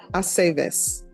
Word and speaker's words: Aceves: It's always ve. Aceves.